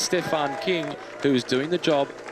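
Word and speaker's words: Küng: of it n g so as English speakers you are drawn to saying Kung he says himself it's pronounced King which makes it easier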